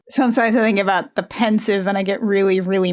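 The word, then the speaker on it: Pensieve: was a delayed reaction I pronounced civis sieve so it was a delayed reaction it took me until John saying oh no I've always pronounced it sieve for me to suddenly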